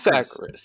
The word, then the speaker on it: Sacris: Sacris, yes.